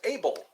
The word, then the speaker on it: Abel: so your name is Abel let me write that down again oh oh my goodness able as in I am able I am able to